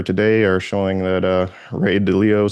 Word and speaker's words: Ray Dalio: It's Ray Dalio is actually how he pronounces his name, so he'd probably appreciate it since you're giving him props that you pronounce his name correctly.